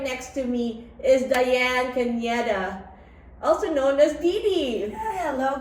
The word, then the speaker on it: Caneda: And right next to me is Diane Caneda, also known as Didi. Hello guys. Hey. Did I say it right? Yes. Caneda, yeah. Caneda with an N, yeah.